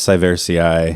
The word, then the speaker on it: sieversii: 6.8 golden poems of honor for Malus sieversii. Yes. The Kazakhstani apple. Were you saying a moment ago that I add several syllables in Yes, there?